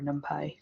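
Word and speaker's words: NumPy: other libraries that use nump or numi depending on how you want to pronounce it um which is another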